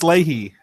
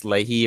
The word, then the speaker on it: Lahey: for you Alex Alex Lahey yes Alex I guess I guess that's how you pronounce it Alex Lahey or LaHaye yeah it's a she